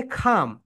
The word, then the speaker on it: calm: ড্র্যামিট, ড্র্যামিটের এখানে যেটা ঘটনাটা ঘটেছে সেটা হচ্ছে, ড্র্যামের এনটা হচ্ছে সাইলেন্ট লেঠা, এখানে খাম, এলটা হচ্ছে সাইলেন্ট লেঠা, বুঝছো?